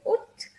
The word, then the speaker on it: août: We write all these letters, but we only say Août.